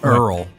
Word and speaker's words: IRL: Is it pronounced IRL or in real life? Do we know? It's Earl.